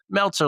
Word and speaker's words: Meltzer: And then before they can even ask how it's spelled, he goes Meltzer like seltzer.